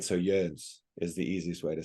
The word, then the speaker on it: Joens: So German J is pronounced like a Y, and the OE is actually like an O with 2 dots over the top of it. So the actual German pronunciation is Joens.